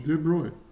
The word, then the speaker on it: de Broglie: Um comprimento de onda de de Broglie.